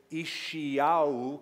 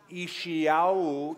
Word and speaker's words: Isaiah: the book of Isaiah, or we should say Ishiyahu. Can you try to say that with me? Ishiyahu. Ishiyahu is how you say his name. He wasn't born in Rochester, New York, or in California or New Mexico. He was born in Israel, and so his original pronunciation was Ishiyahu.